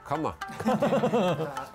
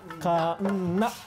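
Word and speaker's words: 鉋: Kanna. Kanna.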